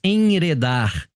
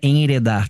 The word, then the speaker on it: enredar: perigoso e podemos nos enredar na verdade não é enredar tá a pronúncia correta aqui é enredar Tá certo eu tinha